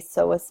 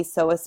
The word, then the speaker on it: psoas: off with our iliopsoas the P is silent here and it's made up